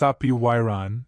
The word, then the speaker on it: apeiron: The word apeiron, pronounced apeiron, is derived from Greek, where a dash means not or without, and peirar means end or limit.